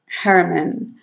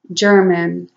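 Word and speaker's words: Germán: was william german again in spanish german was pronounced hermann or her man here in in the states they pronounce it german so i wanted him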